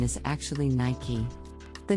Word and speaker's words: Nike: with Nike many people mispronounce this brand as Nike but the correct pronunciation is actually Nike the name Nike comes from the Greek goddess